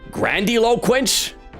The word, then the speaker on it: grandiloquence: Grandiloquence? Is that like grand eloquence? Well, how do you pronounce that? Grandiloquence. Is there a pronunciation? Grandiloquence. That's French. Grandiloquence. Grandiloquence. Okay. So that's how you say it.